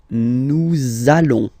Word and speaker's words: nous allons: link between the words, so it does mean that you will have to pronounce this z sound, okay? Listen to me. Nous allons.